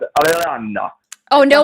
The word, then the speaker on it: Iran: You pronounce Iran. You go Iran.